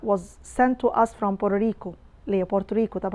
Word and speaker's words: Puerto Rico: have antiphon at see when its medial it's flap T it's pronounced like right so it's poor Oh Rico Puerto Rico this is American pronunciation it's not in general